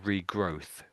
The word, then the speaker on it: regrowth: So, regrowth. Regrowth. Regrowth. Regrowth. The last one sounded a little bit like an F, but it's okay.